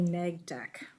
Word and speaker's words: neg dec: draft mitigated negative declaration which I always want to call Mid Mig NE but it's actually neg deck and um yeah I